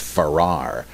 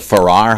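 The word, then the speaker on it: Farrer: drives me crazy that you spell it f-a-r-r-e-r but i believe it's pronounced farrar anyway wouldn't the ferrar hypothesis currently argued by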